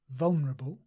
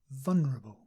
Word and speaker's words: vulnerable: and finally vulnerable and for this word vulnerable many English people simply say vulnerable without the L yeah vulnerable so if